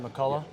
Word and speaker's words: McCullough: McCullough?